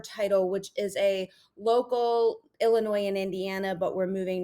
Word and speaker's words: Illinois: you're not from Illinois because we don't say the S. And I was like, well, why is there's an S? I'm trying to enunciate all of my words and syllables. And she's like, nope, it's Illinois.